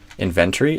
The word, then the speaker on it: inventory: Inventory inventory I would stress inventory the stress on the in not on the ben.